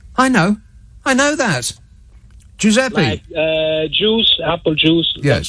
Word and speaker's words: Giuseppe: one let's have fun giuseppe and in brackets just for my help and assistance in brackets it's got pronounced jew sep e yeah i know i know that giuseppe uh juice apple juice